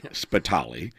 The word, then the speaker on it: Spitale: Spitali. It's spelled, my first name. Exactly. It's spelled Spitale. C. Spitali.